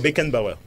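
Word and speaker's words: Franz Beckenbauer: super donc il a Frank France Becken Bauer fr been Bauer pour mettre un peu la prononciation surnommé le Kaiser kaisaro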